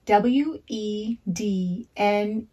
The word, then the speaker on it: Wednesday: W-E-D-N-E-S-D-A-Y. Wednesday. Wednesday. And Wednesday has 2 syllables.